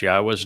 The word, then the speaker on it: Yahweh: many times there is no question how to pronounce Yahwa's name uh because the pronunciation of Yahwa's name